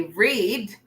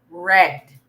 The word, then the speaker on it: read: So when we talk about the past tense of the verb read or the action verb read, we don't say read, we say read.